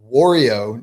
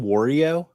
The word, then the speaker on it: Wario: Tennis are you saying Wario better than me like Oreo isn't it Wario how do you say it I say Wario like rhymes with Mario Herms how do you